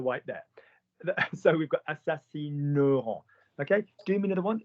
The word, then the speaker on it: assassineront: Yeah, you change the pronunciation of it. You don't say assassineront. You say Aaron is a handsome boy in the white there. So we've got assassineront.